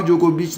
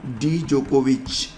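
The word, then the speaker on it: Djokovic: Novak डी जोकोविच। ठीक है, हालांकि यहाँ पर डी नहीं कहते, आप डी को साइलेंट रखते हैं, लेकिन फिर भी नोवाक जोकोविच ही आप कहें तो बेहतर होगा खिलाड़ी कहाँ के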